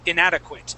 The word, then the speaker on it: inadequate: that is a graduate, that A is pronounced as an IT, just the same as inadequate. Okay, so graduate and inadequate. It has that same it sound at the end.